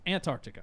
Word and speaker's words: Antarctica: That's how you say it. Not anti. It's Antarctica.